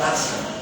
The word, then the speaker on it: Asa: Él se llamaba Asa. Así como se escribe, A-S-A, rey Asa.